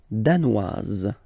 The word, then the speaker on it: danoise: Le Danemark, danois, danoise. Z, okay, insist on that. Danois, don't pronounce the final S. Danoise, here you pronounce it.